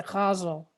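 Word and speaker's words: ghazal: of uh form called i pronounce the causal g-h-a-z-a-l and there's always been a debate about how to pronounce it but i heard an arabic person say it's with a guttural jig so that's how i'm going to say it i'm going to causes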